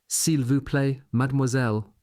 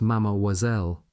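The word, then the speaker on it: mademoiselle: Troops studying an army phrase book murmured the hopeful encore unveil madmoiselle that last often being pronounced mammoiselle.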